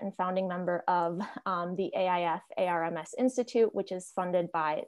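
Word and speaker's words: AIFARMS: We pronounced it AI Farms, by the way, I thought.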